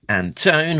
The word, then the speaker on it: Antone: minute, on SFX, editor Alex Antone, rhymes with phone, assistant editor Caitlin Chapel, application design Jillian Crab, production design Richard Mercado, and creative consultant Diana Davis.